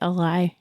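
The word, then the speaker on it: Alai: do you say it I say Eli yes that's how they said it on audio too Eli and Ender get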